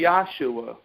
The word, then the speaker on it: Yahshua: When you say Yeshua, I'd rather you say Yahshua, because if you spell it Y-A-H-S-H-U-A, you're still saying Yahshua.